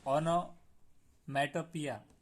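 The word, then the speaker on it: onomatopoeia: उसके बाद है 20, तो ओनोमैटोपिया, ये उसका प्रोनाउंसिएशन जो निकलेगा ये सही है उसका।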